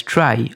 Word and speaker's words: trie: or a prefix tree a tire pronounced as try or a prefix tree